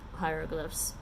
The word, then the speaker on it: hieroglyphs: And maybe some ancient Egyptian hieroglyphs. Hieroglyphs. Why do we say hieroglyphs when it's spelled H-I-E-R? For the same reason we say hierarchy.